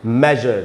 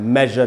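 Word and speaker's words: measure: इ वाला एग्जांपल है जैसे ये है मेजर तो इसमें अ का साउंड आ रहा है। एस यू आर ई के पहले अ का साउंड आ रहा है जो कि एक वॉइस्ट वोवेल साउंड है। तो एस से ज का साउंड बन रहा है। मेजर पढ़ रहे हैं।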